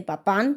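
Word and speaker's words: Papin: de las hermanas papá que sí se dice papá porque es francés y la i se pronuncia como una a es uno de los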